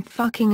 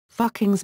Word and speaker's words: Fucking: in the modern spelling Fucking in the 18th century, which is pronounced with the vowel oo as in book.